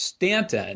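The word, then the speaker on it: Staunton: stanton stanton okay it's i think it's pronounced stanton okay but it looks like stealth and so i think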